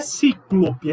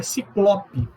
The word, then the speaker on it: ciclope: Não é cíclope, é ciclope. Outras palavras, não é mister, é mister, que significa imprescindível.